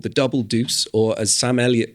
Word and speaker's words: Double Deuce: to a new club, which is called the Double Deuce, or as Sam Elliot pronounces it randomly in the middle of the film, the Double Douche.